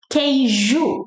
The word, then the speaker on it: queijo: The first one, queijo. It has to sound like ju, like junior, João. It has to sound like ju to be cheese.